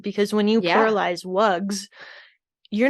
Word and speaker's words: wugs: of wug is voiced, that voicing carries over and changes the S that we view as pluralization into a Z sound for wugs instead of Mhm.